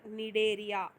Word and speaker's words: Cnidaria: So C is silent here, Cnidaria.